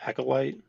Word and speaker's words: Acolyte: Darth cross for the upcoming um because it's pronounced acolyte yeah acolyte yep yeah it open the Accolade Series yeah